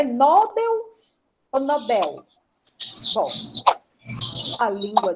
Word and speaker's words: Nobel: não tem acento bom então eu digo Nobel o prêmio por isso que foi criado o Prémio Nobel da Paz e se alguém que disser que o nome é Nobel ou não vou discutir porque eu não sei como é na língua original mas aqui no Brasil na língua portuguesa é o digo Nobel por causa do ele porque não tem acento no dó Tá